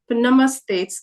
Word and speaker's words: Namaste: times you would see in Namaste you have n m a but these a sounds are just representing that the inherent a sound in the consonant that's already there in the Hindi alphabet and that's why for example when you say my name it's just St because there's just half the S sound it's not s it's just namastes namastes Namaste that's the reason the a is there because an inherent sound uh with all consonants